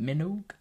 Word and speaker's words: Minogue: So apparently it's Kylie Minogue as like Vogue, but Minogue.